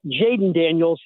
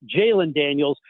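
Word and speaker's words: Jalon Daniels: You have to be careful in the way you pronounce the name. It's not Jaden Daniels, it's Jaylen Daniels.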